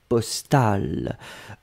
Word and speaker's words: postale: le à la fin postale phonétiquement c'est la même chose le masculin et le féminin on les prononce pareil mais on doit quand